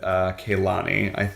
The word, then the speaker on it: Kehlani: And that's that Demi Lovato was crushing on stage with Kehlani, I believe is how you say her name,